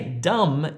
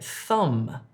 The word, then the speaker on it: thumb: Don't say dumb if you're trying to say thumb.